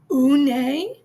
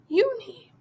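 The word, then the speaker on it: Unhei: "Une?" the girl asked, scrunching up her face. "Ooh, Une," some kids chanted. No, Yoon-hee corrected. It's spelled U-N-H-E-I. It's pronounced Yoon-hee.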